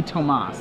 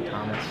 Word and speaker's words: Thomas: for Tomas and Volson it would be Tomas not Thomas uh he's he's pretty Americanized so okay so we go with Thomas yeah I'd just say Thomas all right probably the way most people pronounce it so okay and